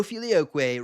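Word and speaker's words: filioque: I do think that without the filio way no filioquay rhymes with gay do we really want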